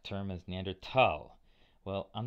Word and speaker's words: Neanderthal: One of my other undergraduates, who was a German major, told me it was Neanderthal, very distinctly pronounced all the vowels.